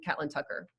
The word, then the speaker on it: Catlin Tucker: the agenda, especially those from Catlin Tucker. And that is how she pronounces her name. I've specifically heard that, so.